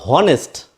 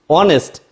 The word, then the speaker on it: honest: And when we pronounce this word, it is not honest, it is honest.